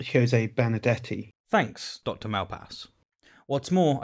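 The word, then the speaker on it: Benardete: learned a lot such as how to accurately pronounce benedetti jose benedetti thanks dr malpass what's more i've paid a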